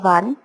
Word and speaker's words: one: Besides, we say a 1 rupee note, not and 1 rupee note, as we pronounce O in one as W in one, and the word one gives a consonant sound.